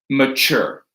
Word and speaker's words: mature: There is one exception that we have here, which is mature. Okay? That ch, that this is the stressed syllable here. That tu is the stressed syllable, but we say that with a ch. So this is the only exception for stressed syllables, is mature, right?